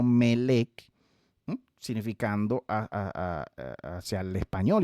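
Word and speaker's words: מלך: Pero vea la similitud con la palabra melek, que significa rey, que literalmente se pronuncia así en hebreo moderno, melek, significando hacia el español y hacia nuestros idiomas, ¿verdad?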